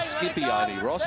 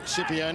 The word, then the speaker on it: Scipione: him for several years skippy only ross but apparently you've checked with him and it is shipping the italian pronunciation from josh's mouth scipione is the way it should be pronounced well let's see if